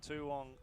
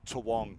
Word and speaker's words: Toowong: from the Toowong Harriers. It's not Kooyong. Toowong. It's taken me too long to figure out how to pronounce that properly.